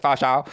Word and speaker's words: Pho Show: Faux Show? It rhymes. I don't know why I did that hard Vietnamese accent. Pho Show.